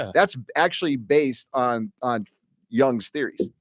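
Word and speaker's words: Jung: There's a video of this guy um shoot my Carl Young. Oh yeah. Have you seen the video? J u n it's pronounced young but it looks like John.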